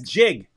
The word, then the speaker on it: jig: so that Muslims see the gig is up. Your religion is not monotheistic. It's jig.